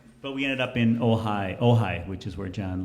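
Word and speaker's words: Ojai: of the weekend but we ended up in ohigh ohigh which is where John lives and uh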